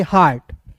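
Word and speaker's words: heart: या दोस्तों यहां पर इ ए के बाद आर आएगा तो इ ए का उच्चारण आ के रूप में आर टी हार्ट एच ई ए आर टी को पढ़ेंगे हार्ट बी का ब टी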